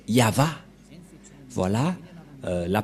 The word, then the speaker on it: Yahvah: c'est V et et la prononciation de ceci c'est yava voilà euh la prononciation